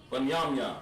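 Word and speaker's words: בנימין: Ban, Yam, Yan. Benjamin. See Benjamin in the Bible? That's how his name's pronounced. Banyamyan.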